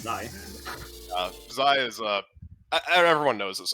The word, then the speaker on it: xi: That's how it's pronounced, actually. It's Zai.